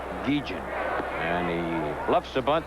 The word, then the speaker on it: Guillen: Now, this youngster wants his name pronounced Guillen. Ozzie Guillen. It's spelled Guillen, but for some reason he wants it pronounced Guillen.